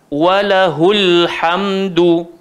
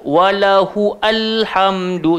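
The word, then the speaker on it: وله الحمد: Bentuk cara bacaan dia tak berbunyi kalau ada huruf sebelumnya. Okey. Tengok yang bawah dia pula untuk kita lebih jelas. Walahul hamdu. Walahul hamdu. Jadi kita tak boleh baca walahu alhamdu.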